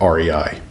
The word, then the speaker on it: Rei: to rei and i learned that's how you say it rei they had a pretty